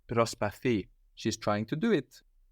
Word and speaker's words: προσπαθεί: She is trying, Προσπάθει. but with the accent on the ending with this verb, no? Προσπαθεί.